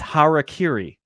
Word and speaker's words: harakiri: sorry how are cute I you know absolutely pronounce it wrong but it's harakiri all right well I'm sure we're gonna get